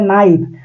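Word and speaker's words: knife: Silent word वैसी word होती है जिसको लिखते तो है लेकिन पढ़ते नहीं है, जैसे नाइफ के, नाइफ तो कोई थोड़ी पढ़ता है, नाइफ मतलब चाकू होती है।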